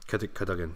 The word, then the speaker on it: Cadogan: Somebody pronouncing what correct? Cadogan. Cadogan, yep.